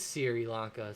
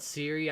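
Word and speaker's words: Sri Lanka: it shree okay so in local dialect i'm correct it is sirilanka so that makes sense i've heard a lot of people call it siri i've heard i've heard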